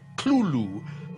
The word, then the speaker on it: Cthulhu: tells a colleague, well, it's really meant to be two syllables. You're supposed to put your tongue at the roof of your mouth and cough it out like Clulu.